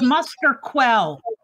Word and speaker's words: Musterquell: It's Muster Quell. Quell. I was thinking. I wasn't sure if they pronounced the U.